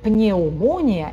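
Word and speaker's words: pneumonia: да, вообще, в принципе, читается этот корень пнюмо, п не читается. А то, что вы написали пневмония, эу, сочетание ию читается ю, то есть ю. Пневмония, пневмония. П нету, а там звук ю.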